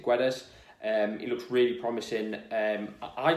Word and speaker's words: Guedes: Gonçalo Guedes, I think that's how you pronounce it, Guedes.